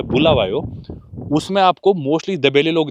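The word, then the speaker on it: Bulawayo: और इसका मतलब भी होता है, शायद एक्चुअल प्रोनाउंसिएशन बुलावायो है इनकी भाषा में, जिसका मतलब होता है कि भी जिधर लोगों को मारा जाता है या ऐसे कुछ।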